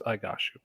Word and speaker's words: Igashu: she says goes so she says i goshu it's igashu okay so uh as mentioned